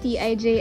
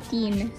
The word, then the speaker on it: TIJN: and i wear anyway it is not pronounced as tij and it is pronounced as teen okay i am so